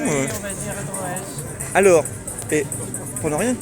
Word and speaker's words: Droesch: Droesch. Non, mais c'est toi qui vas nous donner la bonne prononciation. Oui, on va dire Droesch.